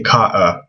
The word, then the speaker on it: Carter: not Helen let's see Carter um they'd say Ka so in Arabic if you were to write this with Arabic letters they would just put a Hamza in the middle there because they don't pronounce the RT they just say k so the glal stop